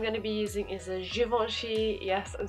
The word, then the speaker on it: Givenchy: my sponge I'm gonna be using is a Givenchy yes I'm saying it right this time there's